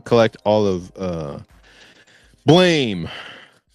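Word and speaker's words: Blame!: Um and I want to collect all of uh Blame or Blom as people like to call it, but I pronounce it blame in my head.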